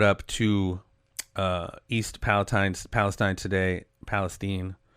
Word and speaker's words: Palestine: Palestine. I don't know why it's Palestine when it's spelled same thing as Palestine.